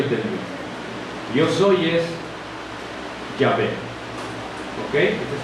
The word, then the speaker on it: Yahvé: Cuando uno dice Jehová es Yahvé o Jehová, ¿ok? Yahvé. Cuando la dices bien pronunciada en el hebreo antiguo, la dices.